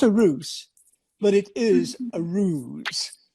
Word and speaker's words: Ruse: ruse now you know my name is ruse r u s e and i pronounce it ruse but there's an english word